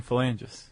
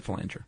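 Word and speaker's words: phalanger: Oh, I've been saying fangis. Oh, really? Fang. Yeah, it's a felanger.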